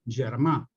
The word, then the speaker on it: germà: como germà, con G, pero eso se pronuncia germà.